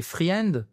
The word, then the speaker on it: friend: My friend donc on prononce pas le I.